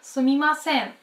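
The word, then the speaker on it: すみません: Наша вторая фраза звучит как «сумимасен».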